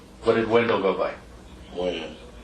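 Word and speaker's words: Wynn: Win. Win? Or when? Win. Win. W-E-N or W-I-N? W-Y-N-N. W-Y-N-N. Okay.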